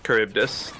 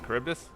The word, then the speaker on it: Charybdis: Charybdis, I believe. Oh, that is not how that looks. But Charybdis getting some positive traits here onto OP Ivy.